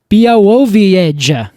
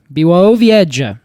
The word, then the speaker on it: Białowieża: Białowieża. And edge is all capitalized, so I think that's where the emphasis should go.